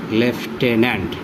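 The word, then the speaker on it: lieutenant: ই এন এন এই এটার উচ্চারণ হল লেফটেনেন্ট দেখুন এত কঠিন শব্দ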